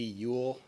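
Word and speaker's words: Euille: statements first from Alexandria city mayor William D Ewell that's spelled e-u-i-l-l-e second by Alexandria City Manager Rashad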